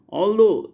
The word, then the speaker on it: although: hustle bustle t silent although g h parliament are fight g-h